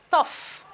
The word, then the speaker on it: tough: You can see the F being pronounced. We have tough. F. The F sound.